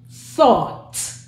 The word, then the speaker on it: thought: So it's t, aw, t, thought.